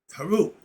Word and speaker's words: Heru: So, Heru. Or you can pronounce it Raul, Nu, Pert, M, Heru, spelled P-E-R-E-M.